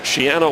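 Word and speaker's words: Schiano: And that's how Greg Shiano wants it pronounced. Shiano like piano.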